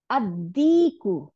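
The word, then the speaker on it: الديك: আবার দাল, দেখেন লামটা গিয়ে দালের সাথে মিক্সড হয়ে গেল, মিক্সড হয়ে গিয়ে দাল দুইটা বানাই দিল, আদিকু, মোরগ, আদিকু, দুইটা দাল হয়ে গেছে, লামের আর চিহ্নই নাই, আদিকু, তাই না?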